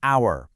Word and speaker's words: hour: It's an hour because the h is silent.